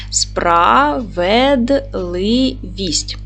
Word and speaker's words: справедливість: поділимо слово на склади справедливість наголос на третій склад с твердий приголосний п